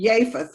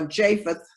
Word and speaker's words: Japheth: was ham shem and japheth or japheth that jay is not pronounced like a j with the three sons